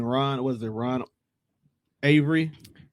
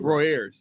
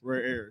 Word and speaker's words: Roy Ayers: And then Ron Avery.